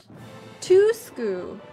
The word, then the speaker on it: Tuisku: Am I saying it right? I don't think I'm saying it right. Tusku. Oh, I see. Tusku. Thank you for the pronunciation for that.